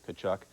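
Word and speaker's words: Tkaczuk: We mentioned it because Canuck rhymes with Tkachuk.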